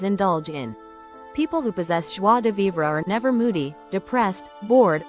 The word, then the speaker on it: joie de vivre: Joie de vivre. Pronounced something like joie de vivre. ZH is identical in sound to the S of pleasure.